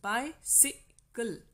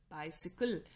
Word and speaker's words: bicycle: Bi is stressed syllable, sick is unstressed, kul is also unstressed. So bicycle, bicycle.